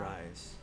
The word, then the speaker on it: Ryze: that i bought uh ryze i think i'm saying it right okay r-y-z-e okay that's probably how you sell it yeah rice um i know they